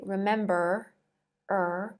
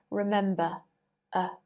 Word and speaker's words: remember: remember still with voice remember that in received pronunciation if a word ends with r the r is not pronounced in american english you might say remember er but in received pronunciation remember uh all of these root